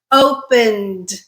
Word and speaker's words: opened: like open we're add we're simply adding the D sound to the end I produced The Ed as simply the D sound so even though we're adding E and A D what we're producing is just the D sound we're not adding another syllable okay open is two syllables when we add the Ed we're not creating a third syllable we're not saying opened